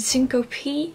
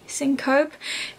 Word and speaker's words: syncope: is a syncope I don't know how to pronounce it Cinco P syncope it means the loss of a vowel when